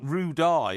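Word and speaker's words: Roodee: Well, it's spelt Rue Dye, ROODEYE, Rue Dye, but it's pronounced Rue D, and the Rue D is Chester Racecourse.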